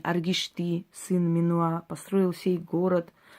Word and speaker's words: Аргишты: И в клинописи царя Аргишты написано: «Я, Аргишты, сын Минуа, построил город сей». Неправильно сказал ударение. Аргишты, сын Минуа, построил сей город во славу моего рода и моего имени.